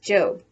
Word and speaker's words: Job: to her job which in the bible is pronounced job remember that the one two books sam is